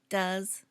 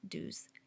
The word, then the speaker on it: does: Notice the pronunciation does, not do's.